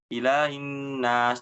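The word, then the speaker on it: إِلَٰهِ النَّاسِ: Berikutnya menyamarkan huruf H. H yang ada di kata-kata ilahi ya. Maksudnya tidak dibaca jelas. Ilahin nas. Nah, ujung-ujung langsung aja ke nas. Hi-nya tidak dijelaskan. Ya, yang betul harus dijelaskan.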